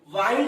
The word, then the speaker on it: wind: यहाँ पे pronunciation WIND, वाइंड रहेगा, तो वाइंड मीन्स लपेटने। अगर यही प्रोनाउंसिएशन WIND, विंड होगा, विंड मतलब वारा या हवा।